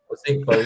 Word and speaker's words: Ozigbo: the show, that I forgot how do you pronounce his name? The running back has just been activated. Is it Ozigbo? Is it? Ozigbo, yeah, he's just been activated.